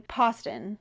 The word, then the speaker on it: Poston: I've actually met Ashley Poston before, and she told me how to pronounce her last name, Poston, like Boston.